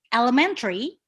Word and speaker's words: elementary: this a lemon tree but for elementary you put the pressure you put the stress on the word man so is this elementary